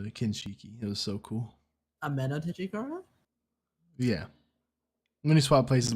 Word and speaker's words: Ameno Tejikara: Ameno Tejikara? Yeah. When he swapped places with the statue to dodge the axe. Repeat what you said? I said Amino, but yeah.